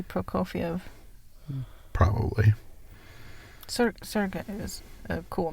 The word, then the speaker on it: Prokofiev: i'm going to probably butcher the pronunciation is sergey pro call faves peter and the wolf i think it might be prokofiev probably surrogate is a